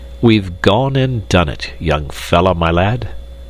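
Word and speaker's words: young fellah my lad: gone and done it young fell my lad this curious phrase he pronounced as if it were all one word young fomy lad yes we've taken a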